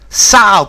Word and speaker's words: sow: Sow, pronounced like cow.